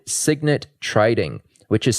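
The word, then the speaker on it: Cygnet: proprietary trading firm with a few partners called Signet Trading, which is spelled CY G NE T.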